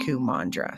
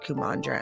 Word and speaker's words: Kumandra: Mandra sounds like mantra and mudra mixed together. So Q mantra Q mudra like anyway I thought it was really interesting to see how the place was called Kumandra and that was the